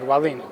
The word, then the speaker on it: Wallin: I'm doing great and you said all right valine yeah I've been trying I'm in practicing I